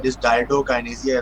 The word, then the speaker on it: dysdiadochokinesia: And this another co is important because dysdiadochokinesia is also a commonly mispronounced way to say this. So remember, there is a co too.